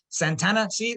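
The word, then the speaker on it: Santa Anna: Santana, see why he wrote Santana as one word? That's how they pronounced it back then.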